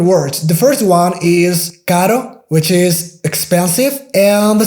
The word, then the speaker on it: caro: So car, expensive, in Spanish is carro, caro. So you can see the difference. Here we have the soft R, which is kind of pronounced like the D sound in American English.